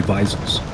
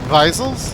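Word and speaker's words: Wiesel: technically they would be visil since the W is pronounced like a v in German oh yeah yeah visil oh I don't know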